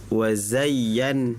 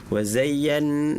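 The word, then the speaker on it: وَزَيَّنَّا: Contohnya itu tadi wazayyan wazay. Jadi itu harusnya tidak di digunakan tapi masuk saja wazayyan nunnya baru di digunakan seperti itu.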